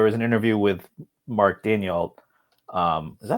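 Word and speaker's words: Daigneault: But there was an interview with Mark Daniel. Is that how you pronounce it, or Daniel, right? Sorry, say it again. It's pronounced Mark Daniel, right? I think it's Daignault. No, Daignault. The G isn't silent.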